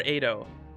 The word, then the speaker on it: Edo: came here from i is it idol or edo it's edo i think with an a right instead of an e edo near edo i